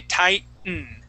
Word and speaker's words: tightening: As you can tell, when I say the word, I do not pronounce the T. I say tighten.